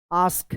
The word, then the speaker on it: ask: या आप यहाँ पे भी ASK, इसका भी उच्चारण होता है आस्क, क्या उच्चारण होता है?